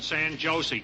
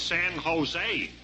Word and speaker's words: San Jose: And Diti said, "I spent me vacation in San Josie, California." So Augie said, "Sanch Josie." He said, "You don't pronounce it that way. It's San Jose." Because J's sounded like hes.